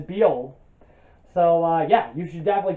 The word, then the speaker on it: Bujold: Louise McMaster be old I I clearly had to look up those pronunciation of the last name it is be old so yeah you should